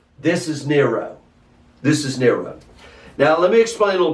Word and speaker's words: Neron: We know that because of the Greek spelling and pronunciation of Nero, or in Latin, Neron. Not moron, Neron.